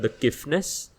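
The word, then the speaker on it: The Kiffness: And this artist called, like I found that it was this artist called the Kifness, that's spelled THEK space KIFFNESS.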